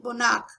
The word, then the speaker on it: monarch: Monarch, C-H is K, monarch.